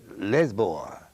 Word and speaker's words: Lisboa: portugal mm-hmm city was a lisbon but they pronounce it lisboa cookie and country so ancient that the Roman